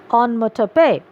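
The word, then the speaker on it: onomatopoeia: literary device onmo tope kindly mark the pronunciation it is quite different from the spelling the pronunciation is on motor pay the use of sound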